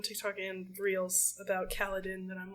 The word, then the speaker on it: Kaladin: the only gotten his his name is kaladin and I said that rhymes with Paladin that's weird maybe that's